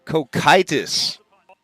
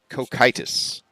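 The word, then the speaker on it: Cocytus: that's pretty cool wow learning stuff see how pronounced head of the trader Boca condemned the frozen lake of kokitis cokitis all right we got it cokitis cool Kai tus cheat sheet all right okay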